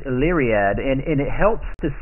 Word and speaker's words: Illyriad: and it's called Allie riad now it's not elite myriad which I pronounced it wrong for a long long time but it's leary ad and it helps to say Ali Riyadh here's how you say it correctly you you